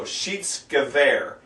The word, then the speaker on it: Schiedsgewehr: Anytime there's an IE in the middle of a German word, you pronounce the long E sound, the second letter. If it's EI, you pronounce the long I sound. So, Schiedsgewehr. There's a W in Gewehr.